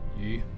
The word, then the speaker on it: 鱼: Yu.